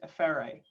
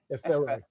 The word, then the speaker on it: Efere: Air, like the stuff around us. Air. F, like the letter. Yeah. A, like the note. Efere. Efere. Yeah, but without the emphasis on the ray. Efere.